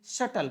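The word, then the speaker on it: subtle: ध्यान में रखिएगा जी इसका उच्चारण हम लोग सटल करते हैं सबटल नहीं पढ़ते जी सटल ओके अब आप इस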